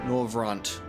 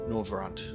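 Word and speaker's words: Norvrandt: what is the pronunciation noront with a t with a T you actually say the T it's not silent no rant Rembrant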